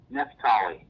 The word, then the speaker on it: Nephtali: I'll let you pronounce it so I don't botch it. Nephtali.